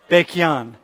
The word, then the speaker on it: Baekhyun: Hey, how do you pronounce his name, by the way? Baekhyun? Baekhyun.